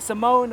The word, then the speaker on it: Simeone: Then Unai, Simone or Simon, I don't know how to say it. That's Simeone, Yeah, you see what Did that?